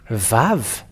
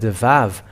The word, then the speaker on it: vav: Okay, so we can say now the Vav. The Vav, because it is called as Vav, it is pronounced as a V.